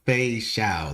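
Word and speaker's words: Feixiao: Fei Xiao.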